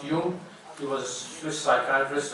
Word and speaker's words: Jung: He's spelled as Jung, but he's pronounced Jung.